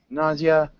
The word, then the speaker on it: nausea: sh is with I I pronounce it more with the z sound NAA see um nausea if you're saying nauseous